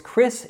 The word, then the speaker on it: Chris: So it's Chris, you just ignore that CH and just say it as a C.